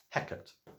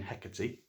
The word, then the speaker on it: Hecate: Hecate, actual proper name Hecate, Greek goddess of witchcraft, but always pronounced in Shakespeare Hecate.